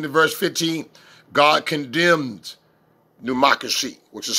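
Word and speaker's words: necromancy: God condemned pneumocracy, which is spelled N-E-C, pneumocracy. That's right, pneumocracy.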